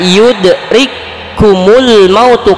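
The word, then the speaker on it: يدرككم الموت: Nah, bacanya yudrikumul mautu, kaf yang pertama lebur dengan ke huruf kaf yang kedua.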